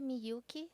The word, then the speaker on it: Miyuki: Como que pronuncia o seu nome? Meu nome completo? É. Miyuki.